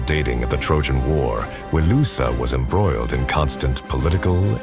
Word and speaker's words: Wilusa: Repeated references to a place called Wilusa, a vassal kingdom on the western edge of their empire. Wilusa, sound familiar? Yay! Linguistic analysis suggests this is the Hittite pronunciation of Ilios, Homer's alternate name for Troy.